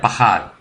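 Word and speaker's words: פקד: En hebreo es paquad, se pronuncia pahad, que significa numerizar.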